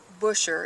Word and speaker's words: Busher: is the father of Maria busher it's pronounced bisher however they called her